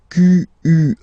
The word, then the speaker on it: quelle: And then the feminine form is written like that, Q-U-E-L-L-E, but it's pronounced like the masculine form.